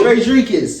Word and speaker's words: Tredricus: Tredricus. It is Tredricus. Tredricus. Not cuss. You can say cuss, but it's kiss.